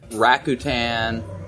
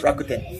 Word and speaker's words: Rakuten: IBM, Microsoft, Docomo, New York Stock Exchange, Morgan Stanley, Rakuten. I can tell you're not from Japan. It's Rakuten.